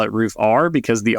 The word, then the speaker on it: Roofr: It is Roofr.